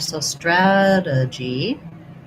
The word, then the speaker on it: strategy: For strategy, we have first syllable stress, black cat vowel, stra. This T we use as a flap, so it kind of sounds like a D. Strategy. This is a schwa, and this G is a J sound. So strategy.